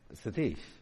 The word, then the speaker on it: Satish: Satish. What? Satish. Uh uh. S A T Ish. Satish. Yeah, that's good.